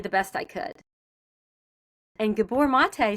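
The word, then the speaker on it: Gabor Maté: Do you know, and I don't know if I'm going to say his name name right, Gabbor Mate?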